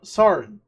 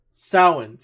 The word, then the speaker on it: Samhain: So now there was a recent pay-per-view that just happened called NWA Sarin. I think I'm saying that right. Samhain. There you go. Samhain. Even though it's spelled differently and all that.